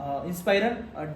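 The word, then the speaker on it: Inspiron: बच्चों आपके लिए है डेल इंस्पाइरेशन इंस्पायरन डेल इंस्पायरन स्पेलिंग बता देता हूं आई एनएस पी आई आर ओ एन 153000 उसका वो मॉडल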